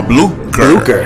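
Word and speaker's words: Blucher: see we have here we have am i pronouncing this right is that frog okay fly broker b-l-u-c-h-e-r for blue crew you got it all right so tell us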